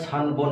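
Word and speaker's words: 三本: সান যোগ হন এটা সান বন হয়ে যাবে ন এবং হর সাথে যদি যোগ হয় তাহলে এটা ব হয়ে যায় তাহলে এখানে উচ্চারণটা হবে সানবন সানবন মানে হচ্ছে তিনটা সান হন হবে না সানবন চারটা যদি হয়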